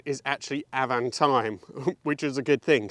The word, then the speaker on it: Avantime: the owner has just told me the correct pronunciation is actually avantime which is a good thing so let's have